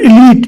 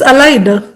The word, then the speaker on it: allied: No, it it's allied. Allied. A L I E D.